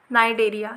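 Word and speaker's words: Cnidaria: ठीक है, इसमें ओ साइलेंट है, हाँ सिलेंट्रेटा पढ़ेंगे इसको, या नाइडेरिया, इसमें सी साइलेंट है, नाइडेरिया।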